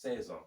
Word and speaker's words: seize: i'm 16 years old yes says the s is silent i'm 16 years old